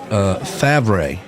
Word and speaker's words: Favre: And Bill says that's pronounced Favre. Favre.